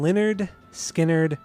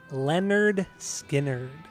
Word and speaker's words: Lynyrd Skynyrd: what are we doing today we are doing Leonard skinnard and their record pronounced Leonard skinnard what is your uh what's your origin story